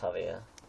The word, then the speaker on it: Xavier: Alisires' brother, Javier, spelled Xavier, pronounced Javier.